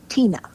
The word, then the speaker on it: Teena: decided my name would be te na a Tina but Tina is spelled with two e not an i and